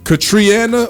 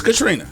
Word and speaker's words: Katrina: Is it Katriana or Katrina? It's Katrina. Katrina. Yeah. It's kind of spelled like Katriana.